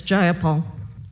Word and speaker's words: Jayapal: it was just jayapal if you're gonna say my name please say it right it's jayapal jayapal do you would you